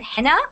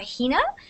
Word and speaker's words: henna: to an Indian name an Indian world word called henna or Hina depending on how you say it and it's that design